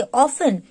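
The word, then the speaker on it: often: इट इज ओ एफ टी एन, बट टी is silent, आप टी नहीं बोलोगे. ऑफ टेन ने, इट इज ऑफन.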